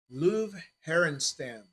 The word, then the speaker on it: Löw Herenstam: Louis Blues, Löw Herenstam. Yes, I did say that right, even though it's spelt love.